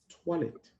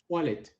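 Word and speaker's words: toilettes: going to say this tolet I repeat tolet which means where are the restroom remember the S is what so don't say Les the S at the end of the word is always silent J can you repeat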